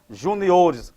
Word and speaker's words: juniores: porque é feia mesmo Juniores ó Júnior Olha a sílaba tônica e Juniores passa a o Então vamos